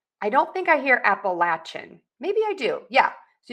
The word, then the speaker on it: Appalachia: And then Appalachian, I don't think I hear Appalachian.